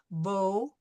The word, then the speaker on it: beau: Bo, O, O. Right? So whether it's spelled AU or EAU, it's going to be pronounced O.